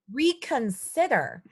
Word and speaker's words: reconsider: It's a short I, so si, I. Jaylene? Reconsider. Reconsider.